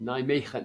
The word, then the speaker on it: Nijmegen: for personal training in Nijmegen? I think that's how you pronounce it. Okay. Nijmegen? And the answer was no. Yep. Nijmegen. You got the G.